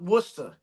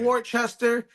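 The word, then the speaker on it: Worcester: w like that's why I call it wora and not Worchester and not Wooster or nothing like that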